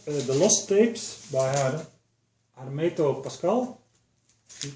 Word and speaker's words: Hermeto Pascoal: It's called The Lost Tapes by Hermeto Pascoal. You pronounce it that way.